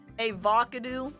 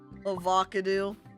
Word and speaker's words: avocado: get better food i used to mispronounce avocado as a vodka-do all the time before i was corrected avocado oh my god that's